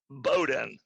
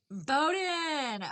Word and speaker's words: Bowdoin: Bowdoin. Bowdoin. Okay. I'm like, it's pronounced, it's definitely spelled different than it is pronounced.